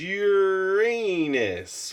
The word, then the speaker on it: Uranus: It says, the standard way to pronounce Uranus among astronauts or astronomers is to put the emphasis on the first syllable Ur, and they'd say the second part Anus.